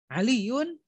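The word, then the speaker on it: عليُّ: Harusnya bacanya ada aliyu, bukan aliyun. Kenapa? Karena setelahnya ada huruf nida, ya, harfun nida. Setelah harfun nida, maka tidak boleh ada tanwin jika itu nama seseorang.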